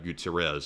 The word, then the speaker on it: Guterres: And this fella is the United Nations Secretary General Antonio Guterres, I believe is how it's said.